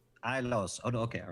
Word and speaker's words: Ilos: And let me just get the pronunciation guide up here. Ailos. Ilos.